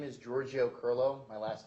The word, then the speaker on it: Kirylo: My name is Giorgio Kirylo. My last name is spelled KirYlo.